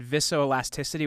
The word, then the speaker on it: viscoelasticity: And I guess one of the you said, and you can correct me if I have the pronunciation of this wrong. You said viscoelasticity.